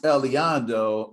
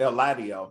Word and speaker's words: Eladio: develops uh over time so that's eliando and now or el ladio i'm sorry keep mispronouncing the name um before i get